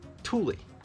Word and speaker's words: Thule: just for you guys it's not thule it's not tool it's thule thule roof boxes the thule